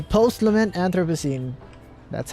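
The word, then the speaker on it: Anthropocene: Pronounce. All right. Anthroposine. Anthroposine. Anthroposine. Anthroposine. All right. Post lament. Anthroposine.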